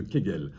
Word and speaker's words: Kegel: a les exercices de Kegel alors quegel ça s'écrit avec un K un e un G un nœud encore et un L qui est gel alors ce sont des